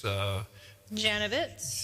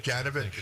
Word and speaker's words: Janowitz: And then I have a terrible time pronouncing this one here, but it's Janovitz. Janovitz. Janowitz, yeah. The Monk Janowitz. Yeah, Janowitz. Okay.